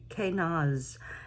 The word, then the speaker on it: Kaunaz: And there are a couple of ways you can pronounce the ruin. One is Kaunaz, and the other, I think more frequently I've heard, is Ken for the name of this ruin.